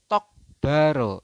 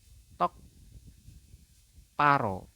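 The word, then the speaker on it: 똑바로: Di sini ada tulisannya adalah tokbaro, seperti itu. Tulisannya adalah tokbaro, tetapi Anda membacanya adalah karena ada giok bertemu dengan biep, maka dibacanya adalah tok paro. Paro.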